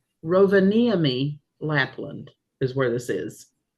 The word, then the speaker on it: Rovaniemi: I saved the pronunciation. Slow. Rovaniemi. Rovaniemi, Lapland is where this is.